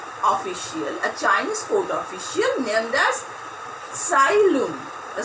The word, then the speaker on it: Tsai: A Chinese court official named as Tsai Lun. The spelling is T-S-A-I. T is silent here.